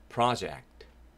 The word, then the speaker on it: project: Project.